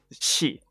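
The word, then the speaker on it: し: So how do you pronounce this character? Shi, right?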